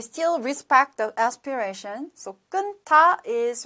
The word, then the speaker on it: 끊다: So when you read loudly or when you pronounce 끊, so we should still keep the first final consonant 니은, and then 타, 끊다. So we still respect the aspiration. So 끊다 is right pronunciation.